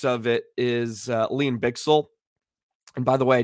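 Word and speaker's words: Bichsel: I just learned it is bixel which I think sounds a lot cooler than bishell so I apologize to him not that he's watching but just want to make sure I have the correct pronunciation so lean bixel um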